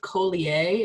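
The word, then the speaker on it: Collier: by Jacob I think his last name is pronounced Kohli a its CEO ll ier okay those are some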